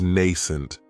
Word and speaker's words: nascent: Another great adjective is nascent, and this word has 2 syllables, and the stress is on that first syllable. It has the long A sound, nascent. That second syllable has that schwa, nascent.